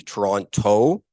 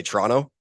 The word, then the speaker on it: Toronto: I always, while traveling internationally, try to put emphasis on the last T, Toronto, because often Canadians, we just roll it and say Toronto really quickly, and people think I'm from a place in Italy or Latin America.